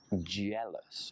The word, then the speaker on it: jealous: times a means occasionally jealous not yellows with a why but with a J jealous would you handle having